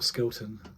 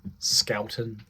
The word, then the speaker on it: Skelton: players taking it in will skeleton Skelton even not skeleton skeleton get your pronunciation right while I'm joining you